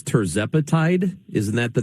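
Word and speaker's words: tirzepatide: might it I want to make sure I'm pronouncing this right but it's terzapatide isn't that the name of the drug and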